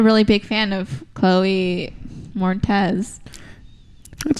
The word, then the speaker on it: Moretz: I'm not a really big fan of Chloe Moretz.